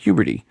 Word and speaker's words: Huberty: And this time it was Katie rhymes with puberty, Huberty, whom said she disagrees